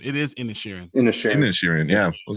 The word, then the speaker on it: Inisherin: Because I was like Inisherin, I think they were pronouncing it. I thought it's Inisherin. It is Inisherin.